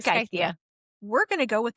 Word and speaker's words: Scythia: Scythia, because I think there's a Pokemon that's named Scyther, and it starts with that. Oh, okay. So All right. Scythia. I'm gonna say Scythia. Scythia.